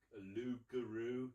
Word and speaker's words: Loup-Garou: Nicky Henson was in an audio drama, Loup-Garou. It's pronounced French, but it's basically about werewolves in Brazil, and he's the chief baddie.